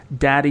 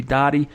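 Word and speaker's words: Dadi: they also signed linebacker Daddy Nicholas. I believe that's how you pronounce his name. He spells it D-A-D-I. I'm not 100% sure on that. Could be Dottie, but I'm pretty sure it's Daddy Nicholas.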